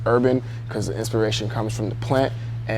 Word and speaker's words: hrbvn: but like I said I go by urban on Instagram that's HR bvn don't mispronounce it it's pronounced urban because the inspiration comes from the plant and